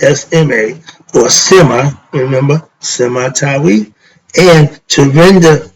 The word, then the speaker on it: SMA: SMA, which is spelled S-M-A, or Sema, remember?